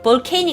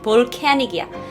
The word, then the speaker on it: volcanic: 볼게요 volic 볼 canic 볼케닉 아니야 볼케니 볼캐닉이야 미안해가 발음 틀렸어 볼 Eruption이라 그래요 이건